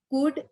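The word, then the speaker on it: could: Again palm, कुड, walk, palm बोलते हैं तो एल साइलेंट, कुड में एल साइलेंट एंड वॉक में अगेन एल साइलेंट।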